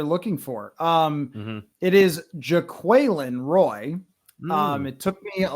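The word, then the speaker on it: Jaquelin Roy: I've seared it into my brain it is pronounced Jacqueline Roy and uh and one thing I noticed was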